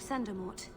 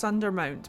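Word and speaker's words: Sundermount: get to the summit of sandermort oh it's pronounced under mount but um sure sure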